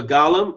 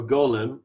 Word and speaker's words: Golem: So the Golem, or Golem, if you want to pronounce it correctly, is started.